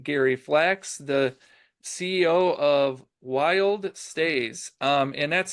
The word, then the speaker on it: WYLDSTAY: the word wild and it's actually wild stay not wild stays but um Gary it's